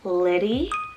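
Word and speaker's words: Liddie: this similar sound so i have the name liddy lissy and lenny so l i d d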